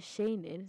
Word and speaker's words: Shayning: I mean, when you hear Shayning, it's trying to rhyme with shining.